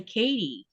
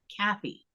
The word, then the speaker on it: Kathy: over here to Greenland, that TH sound that we have in my name, it's not one of the pronunciations that's spoken over here. So a lot of Danish people will say Katie instead of Kathy.